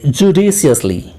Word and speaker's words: judiciously: जी हाँ, जब हम इनका प्रोनाउंसिएशन करेंगे तो डिस जब हम कहते हैं वहां पर जोड़ देना है, यानी जुडिस, जुडिस, अब आगे आसानी से बोल देना है, जुडिशियसली, जुडिशियसली, जुडिशियसली।